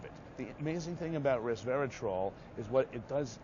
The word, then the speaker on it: resveratrol: Okay, now you can't open a magazine or newspaper now without seeing resveratrol. Right. That's how you got to pronounce it right, like a troll under the bridge.